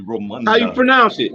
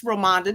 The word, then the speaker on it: Ramonda: He said, I thought he said it like an African movie, Romanda. How you pronounce it? That's correct. It's Ramonda. Don't listen to him. I thought she was African Romanda.